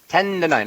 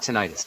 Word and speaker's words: tendonitis: uh T tendonitis in my jaw tendonitis tendon tendonitis not tentis tendonitis okay yeah tendonitis I said it wrong